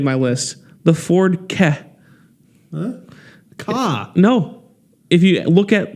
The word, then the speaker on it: Ka: Ka. No. If you look at the documentation, Ford leadership says The KA. the KA as is pronounced with the first two letters of the word cat.